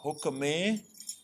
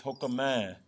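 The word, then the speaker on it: ਹੁਕਮੈ: Notice the pronunciation here. It's not hukameh, it's hukamah.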